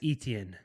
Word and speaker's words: Etienne: Travis Etienne.